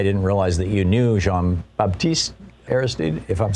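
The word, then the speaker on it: Jean-Bertrand Aristide: me recently i didn't realize that you knew jean-baptiste airsteed if i'm saying it right yeah jean-baptiste aristide and he was taken off to a french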